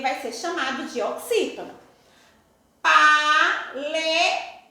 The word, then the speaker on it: paletó: Paletó. O tó está acentuado. Última, o tó. Se é a última, ele vai ser oxítona.